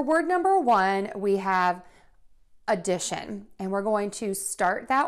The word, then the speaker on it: addition: and make sure that you will link it to that second syllable that's going to be stressed the stressed syllable is louder longer and higher in pitch addition addition next we have